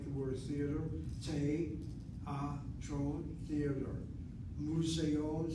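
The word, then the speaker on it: מוזיאון: Museon sounds like the word museum. Museon, museon, museon. 3 syllables.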